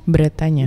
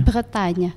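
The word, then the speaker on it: Bretagne: Kak si bretanya ini spellingnya gimana sih Kak b r b r e t a g n e tapi kalau pronounce-nya bretanya beretanya beretanya jadi si the city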